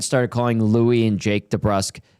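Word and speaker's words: DeBrusk: Jack went and started calling Louis and Jake de Brusk Debr because he had a conversation with Louis one day and Louis like well really it's supposed to be pronounced de Brusk and uh we just start calling it de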